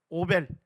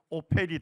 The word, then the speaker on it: 오펠: 뜻입니다 성경에 오이라고 나오죠 오벨 예 거기가 영어 발음을 하면 오펠이 됩니다 오펠 요기요 지역에서 이사야 선지자의 봉인과